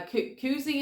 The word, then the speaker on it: Koozie: this basic little uh Koozie is how you say it uh for beer holding